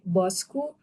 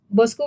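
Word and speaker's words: Bosku: b I think B yeah B oh it's pronounced like bque but in Indonesian it's more of like bosu BOS bosu mean like means um my boss so boss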